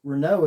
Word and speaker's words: Renault: something came out somewhere or whatever that overseas Renault is the way it's pronounced and we were pronouncing it wrong the